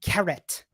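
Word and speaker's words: caret: if i mentioned is called a carret pronounced similar to carrot but different word so let's see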